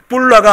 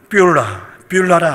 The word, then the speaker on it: 뷰라: 그리고 그 땅을, 이 발음을 잘 하셔야 돼요. 뿔라가 아니라 뭐라고요? 뷰라라 아니에요. 헵시바요, 너를 헵시바라 새 이름으로 부르며 네 땅을 뷰라라 하리라.